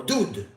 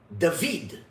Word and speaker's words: David: Tor you'll see it it's spelled which typically would be read as do or dud but yet it's read David where the VAV has